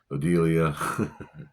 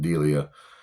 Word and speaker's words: Delia: Catherine O'Hara playing Odelia, or Delia. I'm sorry, I've been saying her name wrong. Delia, and this chick is probably one of my.